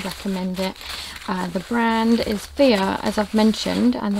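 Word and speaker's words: Fiyyah: as i've mentioned and the way you spell it is definitely different to what i'm used to like i didn't expect it to be called that it's f i double y a h definitely a lovely brand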